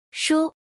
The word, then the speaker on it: 书: This word is pronounced as follow. Shu.